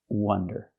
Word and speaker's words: wonder: If I use the short closed sound like cup and up, and I say wonder, well, that's a different word. That's this word. This word is pronounced wonder.